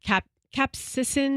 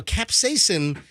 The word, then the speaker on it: capsaicin: ingredient in those Peppers is called I'm gonna pronounce it wrong but capsicin capsaicin capsizing but no capsaicin is in any pepper it just depends on